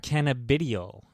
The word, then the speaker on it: cannabidiol: Cannabidiol.